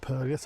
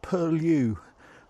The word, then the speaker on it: Purlieus: Actually, it's not Bedford Purlieus. I've got to remember that this year. It's Bedford Purlieus. I've been ticked off so many times. Bedford Purlieus. Rhymes with curlew, apparently.